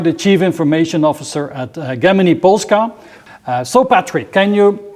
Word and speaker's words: Gemini: And so Gemini, which is the Polish pronunciation of Gemini, so Gemini Polska, this company, could you describe that in 2 sentences?